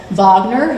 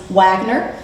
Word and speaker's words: Wagner: with composers and opera like vogner who we would Americanize and spell or pronounces Wagner but through vogner with whom he was obsessed